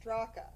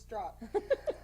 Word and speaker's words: Straka: So, Okay, so Brandon Strock, his name is actually spelled Straka, but it's not pronounced Straka, which is how I was pronouncing it for months. It's just Strock.